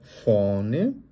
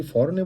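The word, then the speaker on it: vorne: নাখ ফনে, কারণ জার্মানে এটাকে আমরা কি বলি, এটাকে আমরা ফাও বলি, ওই জন্য ফ এর মধ্যে উচ্চারণ হবে। আর যেহেতু মাঝখানে আর আছে, এই আরটা আমরা উজ্জ্ব রেখে আমরা বলার চেষ্টা করব ফনে, নাখ ফনে। কেউ যদি ফরনে বলতে চান সেক্ষেত্রে সেটা ভুল হবে না, তবে আমরা চেষ্টা করব সঠিকভাবে বলার জন্য।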